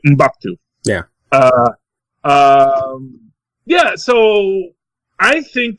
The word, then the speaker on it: M'Baku: Ship the heck out of Shuri and Mkbudu. And I'm pronouncing his name wrong, I know. M'Baku. That's his name, M'Baku.